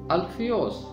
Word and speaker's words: حلفئی: زبان کا لفظ ہے۔ یونانی میں اس کا تلفظ ہے الفیوس۔ الفیوس کا مطلب ہے